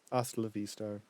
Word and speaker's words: hasta la vista: yes Hustler V Star hasta la vista I've been pronouncing the h I'm surprised pan hasn't